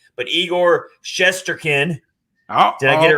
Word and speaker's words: Shesterkin: And I'm not going to mess up this name, but Igor Shesterkin.